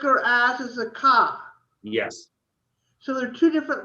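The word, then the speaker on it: כ: And the like or the as is a ka. Yeah, a ka or a cha, depending again what's before it. So the one with the dot in it is a bet. Yep. If it has a dot, it's a bet. Yeah. If it has no dot, it's a vet. Right. And the ka always has a dot. A ka has a dot and a cha has no dot.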